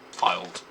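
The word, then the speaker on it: Fylde: I mean, they also held on in Tatan and Field as well, or Filed as it's pronounced.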